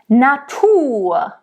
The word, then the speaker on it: Natur: if any German says that word, it's Natur. That's just how we speak. Natur. Okay, if you want to roll it, it's up to you. But just know that if German spoke it, it would be Natur. You will hear a lot of singers rolling all these R's. But I'm just telling you, a German wouldn't roll all the R's probably.